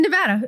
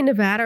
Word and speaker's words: Nevada: you know do people do you say Nevada or Nevada you say Nevada huh I say it wrong because it sounds better wait you say Nevada yeah and I say Nevada I don't know Nevada is correct it is oh it's